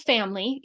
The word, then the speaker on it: FAMLI: There's one called family. You should be aware of this one because it's been around for a while. We've been talking about it for a while. It's spelled FAMLI.